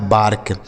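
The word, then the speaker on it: bark: करना है ठीक है ऐसे जैसे यहां पर हमने लिखा जैसे बी से हो गया आपका ब ए का उच्चारण आ की मात्रा इस आर से र हो गया और के से क लिखा है बार्क बी ए आर के बार्क ठीक है तो देख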